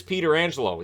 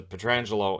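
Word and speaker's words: Pietrangelo: stanley cup 91-92 and it is peter angelo even though his relative pronounces a petrangelo and plays for the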